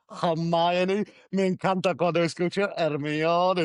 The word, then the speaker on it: Hermione: And yes, to all of our listeners, that is how the name is pronounced. Hermione.